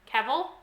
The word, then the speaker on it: Cavill: please Carol Henry Cavill I feel like I've heard that it rhymes with the devil but with the sea